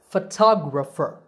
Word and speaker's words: photographer: syllable fo so photograph the next two words are photographer and photography in these words the stress is on the second syllable it becomes a long top and the other vowels become short so photographer photographer and similarly photography the